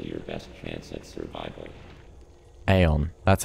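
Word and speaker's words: Aeion: it is still your best chance at survival aeon that's how you pronounce it aeon do not hesitate to destroy an enemy whenever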